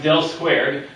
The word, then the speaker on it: del squared: So we have one operator, pronounced del squared. This is an upside down delta, Greek letter delta squared.